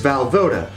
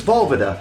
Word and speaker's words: Valvoda: As I mentioned at the beginning of this video, my last name is Valvoda, which comes from Czech ancestry and, as I understand it, would be more correctly pronounced as Valvoda, meaning rolling water, such as like on a river or a stream.